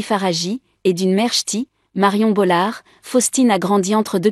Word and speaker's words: Bollaert: Une filiation qu'elle revendique fièrement, précisant souvent avec humour que le T final ne se prononce pas. Né d'un père d'origine italienne Jean-Marie Faragi et d'une mère, Marion Bolard, Faustine a grandi entre deux cultures.